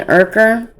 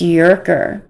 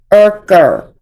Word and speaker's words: Urker: Just like she refuses to say Ken Urker, it's Yerker. Even though Ken's dad is online saying his name, saying it is pronounced Urker, she refuses to say it.